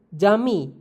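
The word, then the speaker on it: cami: Ada huruf J, berbeda dengan C dalam bahasa Indonesia, huruf J dilafalkan seperti J pada kata Jepang. Contoh kata dalam bahasa Turki yaitu jami, yang artinya masjid.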